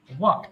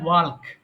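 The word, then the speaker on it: walk: বট বট ওয়াক হাঁটা ওয়াকড এটা ভুল করে অনেক মানুষ বলে থাকে ওয়ালক কিন্তু এল এর উচ্চারণ হবে না এখানে মনে রাখবেন এল উচ্চারণ হবে না এল is silent letter in this word so এখানে বলতে হবে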